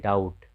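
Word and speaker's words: doubt: फिर यहाँ देखिए, यहाँ फिर बी के बाद टी है, इसे पढ़ते हैं डाउट।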